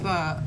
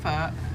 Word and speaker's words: pho: How is it pronounced? Pho. It's pronounced pho. Yeah. Okay. Pho.